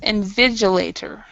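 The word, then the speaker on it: invigilator: that in Viator yes inv vigilator V inv vigilator so this G is a silent G inv vigilator okay all right and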